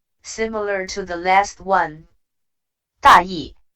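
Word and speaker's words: 大意: 大意 It can have two different expressions. With the neutral tone, it literally means careless. However, with the fourth tone, it literally means rough idea.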